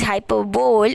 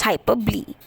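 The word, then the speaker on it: hyperbole: start with hyperb even though the spelling says hyperbowl it's pronounced as hyperb okay hyperb is a form of exaggeration everyone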